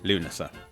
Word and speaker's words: Lughnasa: See, it's phonetically Lunasa. Yes, because I'm slowing the last bit down. Co-produced by Sheffield Theatres and Royal Exchange Theatre, Dancing at Lughnasa.